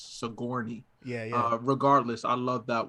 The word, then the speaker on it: Sigourney: her name wrong for Sigourney 27 Weaver. years. Yeah, I always said Sojourner. Uh, And it wasn't until this year that I was corrected for the first time in my life, and it's Sigourney.